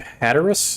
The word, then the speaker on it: Hatteras: between the two notches so this is Cape Hatteras is that how you pronounce it a Taurus Maybe there's everyone that's